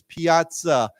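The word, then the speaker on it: piazza: When we in Italian when we have the two Z's, it's piaza.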